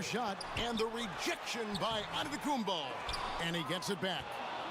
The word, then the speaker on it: Antetokounmpo: In a Nigerian way, you gotta say it with a D, so it's Antetokounmpo. But in the Greek way, you say it with the NT, like Antetokounmpo.